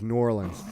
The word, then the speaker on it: New Orleans: It's New Orleans. It's one word, one syllable, New Orleans.